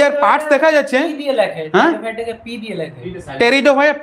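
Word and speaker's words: Pteridophyta: আচ্ছা যদি are parts দেখা যাচ্ছে, হ্যাঁ টেরিডোফাইটা পি সাইলেন্ট, ঠিক বলেছে।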